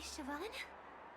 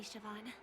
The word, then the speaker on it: Siobhan: I never thought even after all this time, I'd still be troubling you, Lady Siobhan. Siobhan, I was pronouncing it wrong.